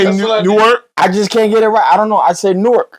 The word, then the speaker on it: Newark: But it's spelled Nork.